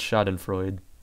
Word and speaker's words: Schadenfreude: that's German maybe Jaden schadenfreude I believe that's how you say that I believe it's shot in Freud I took German class last year and that seems like how they pronounce it generally all right quick breather